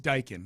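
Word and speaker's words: Daikin Park: some out there at Dy or dayon I cannot get in my head D Park d looks like pronounced dykin yes yep that doesn't help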